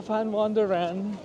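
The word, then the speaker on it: Van Wonderen: tayo SAP waffles sa fan wonder sa fan w wonder so Ang spelling niya is V pero pronunciation niya is Fan ang w niya p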